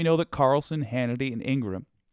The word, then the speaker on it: Ingraham: that Carlson Hannity and Ingram Ingraham I can't believe that's the correct way to say her name but it is uh didn't believe the